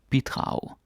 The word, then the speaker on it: bidrag: Bidrag, that's how you pronounce it.